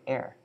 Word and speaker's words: heir: Do you just say heir, not hair, right? You say heir, yeah.